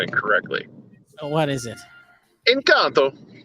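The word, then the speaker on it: Encanto: oh what is it encounter it's not italian it's it's spanish i believe um and um the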